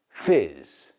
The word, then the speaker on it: fizz: And the second word is fizz. Fizz. That's right. Fizzy, right? Do you like fizzy drinks? So, do they sound the same? Fizz and fizz. No, they don't.